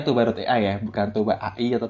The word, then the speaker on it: Toba.ai: Terus sedikit perkenalan dari Toba.ai. Jadi bacanya Toba.ai ya, bukan Toba AI atau Toba.ai, tapi Toba.ai begitu.